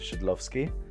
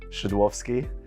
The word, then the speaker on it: Szydlowski: surname yeah so uh if we're in the UK you should probably pronounce it shouldlovsky which is not easy in Poland it would be shadowsky and in German white actually was born would be uh skidlovsky as well so it's it's a